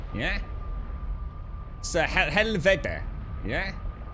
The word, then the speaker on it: helvede: So helvede, yeah? The D should be pronounced as the, as in mother. So helveda should be pronounced helveda.